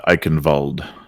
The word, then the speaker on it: Eichenwald: Yeah, Eichenwald is how you say it, my friend.